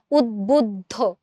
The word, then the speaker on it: উদ্বুদ্ধ: আমরা কিন্তু উদ্বুদ্ধতে এখানে যে ব ফলাটা আছে সেটাকে কিন্তু উচ্চারণ করি। উদ্বুদ্ধ উদ্বুদ্ধ।